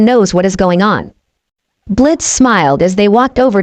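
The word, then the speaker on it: Blitzø: Name's Blitz." The O is silent.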